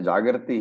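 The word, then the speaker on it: जागर्ति: So please note the difference in pronunciations between the Jagarti here and the Jagrati there. Okay, so there is no difference in the meaning, but its pronunciations are different for the purpose of the meter, the chanda.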